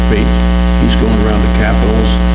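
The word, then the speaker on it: Feucht: a Remnant that Sean I think they pronounce his name fate he's going around the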